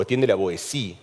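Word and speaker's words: Étienne de La Boétie: es un libro de Etienne de la Boétie, o Etienne de la Boétie, en realidad, que es como se pronuncia en francés, lo que pasa es que a mí me resulta impronunciable así.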